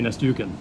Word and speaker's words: Nastyukhin: Now, another fight I'm looking forward to on there is Rob Lasita against Timofey Nastyukhin. Is that how you pronounce his name? Nastyukhin, yeah. Nastyukhin. Yeah.